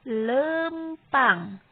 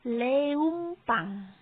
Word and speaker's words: leumpang: Tah, sapertos ieu lempang. Jadi dibacanya bukan leumpang. Bukan ya, bukan leumpang. Tapi anu leresnya eta lempang.